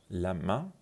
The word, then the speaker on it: la main: la main که آخرش هم نزل داره تلفظ میشه به معنی hand، به معنی دست.